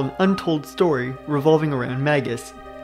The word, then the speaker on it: Magus: untold story revolving around magus there are a few pronunciations of magus with another common one being Magis but I've always gone with Magus hopefully that's not too